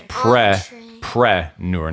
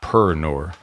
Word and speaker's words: entrepreneur: Entrepreneur. But preneur. Preneur. It's weird spelling because it's preneur, not per-nur. It's P-R-E-N-E-U-R at the end.